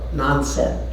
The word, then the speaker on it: Nansen: That's Nansen in Japanese pronunciation.